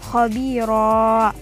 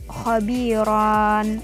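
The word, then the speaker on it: خبيرا: waqaf jadi cara membacanya Hai hobiro bukan hobiron atau bukan khobirun nah bukan pendek dan bukan pula dibaca tanwin lagi melainkan sudah dihilangkan dan diganti panjang atau match in jadi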